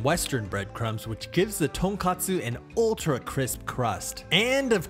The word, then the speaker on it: tonkatsu: And that's the difference between tonkatsu and tonkotsu.